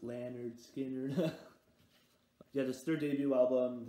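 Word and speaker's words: Lynyrd Skynyrd: and then i got leonard skinner's pronounced lanyard skinner yeah this third debut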